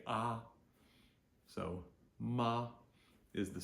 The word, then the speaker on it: ma: to use is simply ma a which is pronounced Ma just like your grandma so m a m